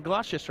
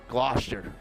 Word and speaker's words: Gloucester: Or later on, you can enjoy some greasy pole action because apparently that's a thing in Gloucester I'm learning about.